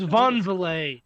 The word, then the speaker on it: Van Vliet: So I think It is Von Valet.